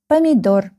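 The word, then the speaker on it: помидор: The last syllable is stressed.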